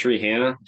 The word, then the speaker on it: Rihanna: which which you know you don't actually pronounce Rihanna like Rihanna right it's Rihanna Brianna Brianna why does she make